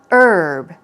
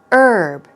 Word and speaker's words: herb: herb here we go you can either pronounce it without the H sound herb herb herb especially in British English though they say it with the H sound so you will hear herb herb okay I say herb